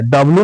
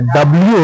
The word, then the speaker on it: W: हाँ सही बोलिए, गलत नहीं बोलिए, डब्लू नहीं होता है, डब्ल्यू होता है।